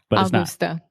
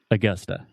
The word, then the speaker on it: Augusta: the schwa sound so most Brazilians will see this word and they want to say Augusta it's Augusta so say Augusta one more time Augusta Augusta awesome I'm gonna visit Augusta this summer Augusta Augusta and it's not Augusta Augusta Augusta yeah so you have two schwa the uh uh Augusta